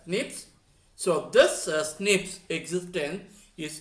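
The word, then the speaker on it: SNP: differences are called a single nucleotide polymorphism which is pronounced as nips so this snips existence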